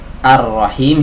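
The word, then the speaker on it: الرحيم: diet tidak dibaca begitu juga huruf lam yang ada di sini tidak dibaca karena dia bertemu dengan huruf ra yang tasydid kasusnya sama seperti ya sebelumnya ar-rahman ar-rahim sama ya huruf roknya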